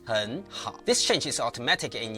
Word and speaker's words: 很好: The same happens in 很好, meaning very good, which becomes 很好.